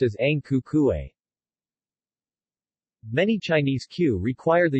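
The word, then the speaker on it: Ang Ku Kueh: Fen Guo, red tortoise cake, Hong Gui Guo pronounced as Ang Ku Kuei.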